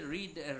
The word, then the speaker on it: read: তাহলে পাস্ট এবং past participle ফর্মে আপনারা রেড বলবেন, রিড রেড রেড।